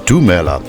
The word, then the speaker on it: Lumela: Similarly, the universal greeting of hello is Lumela, which is pronounced as Dumela.